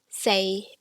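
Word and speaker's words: 四: pronounce fool so say in the third tone which is flat is for say in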